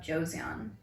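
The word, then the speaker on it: Joseon: what was it called it's called beauty of Josan Josan Josan it's yeah I hope I'm pronouncing it right but it's j o s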